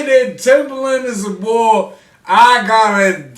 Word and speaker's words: Timbaland: i disrespected timberlane if the legends say that timbaland is a ball i gotta stand corrected right now because i disrespected timberland i say it like not but if the